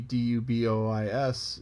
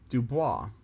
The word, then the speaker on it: DuBois: speaking so you see d-u-b-o-i-s in most people in most instances would assume dubois but here in central pennsylvania it's dubois likewise there's a town